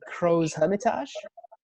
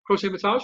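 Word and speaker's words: Crozes-Hermitage: Another one, and tell me if I got the pronunciation on this, but a Crow's Hermitage. Yeah, not bad. Yeah, Crow's Hermitage.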